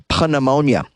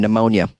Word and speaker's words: pneumonia: health complications such as pan ammonia pneumonia I mean pneumonia for some reason they spell it with a p I never understood that